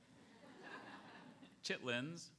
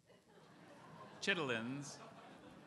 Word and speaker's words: chitterlings: This one has a few pronunciations. Oh, great. Chitlins, chitterlins, or chitterlings.